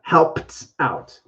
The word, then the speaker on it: helped out: helped out helps out so it has a t sound at the end with the ed not how bad but helped out so it's kind of